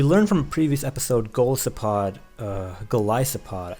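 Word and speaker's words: Golisopod: Anyhow, looking at my opponent's team, I feel like, we learned from a previous episode, Goliathopod, that's how you pronounce it, because it's from Goliath.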